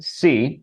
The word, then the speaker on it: See: fiction book by Carolyn c c spelled like I see you not the seed that